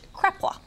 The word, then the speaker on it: kreplach: got Eric Hyman here making the traditional dish kreplach yes right oh you said it right thank